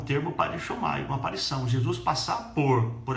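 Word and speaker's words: παρέρχομαι: Passar por é uma palavra grega, no grego, que pronuncia assim, parechomai.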